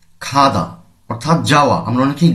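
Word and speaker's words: 가다: হবে আমাদের শব্দের শুরুতে আসলে খ পড়তে হবে এখানে পড়তে হবে খাদা অর্থাৎ যাওয়া আমরা অনেকেই গাধা বলি এভাবে যদি আমরা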